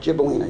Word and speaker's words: Gibellina: Is it Gibellina? Did I pronounce that right? Gibellina, yes.